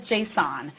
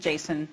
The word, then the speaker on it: JSON: talking about its pronunciation some people call it Jason and some call it Json I did a little bit of investigation and discovered that the original developer of Jason calls it Jason so I'll do that